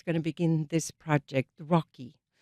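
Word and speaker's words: ROCI: Rocky Rocky after his favorite uh u favorite turtle Rocky that it's spelled R Oci the Rashenberg uh overseas culture exchange.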